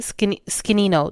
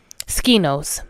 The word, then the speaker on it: Skinos: I worked, but and I went out with my friend Nisi on Saturday to how did you say it? Skinino. No, it's not. That's not how you say it. Skinos.